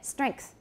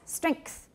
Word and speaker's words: strengths: got it right so listen to the way i say this normally and i'm not doing this on purpose it's just the way i say it strengths can you all hear the k yeah strengths strength once